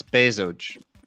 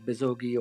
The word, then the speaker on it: Bezoge: It's Bezoge. Bezoge. Bezoge, not Bezogi or anything.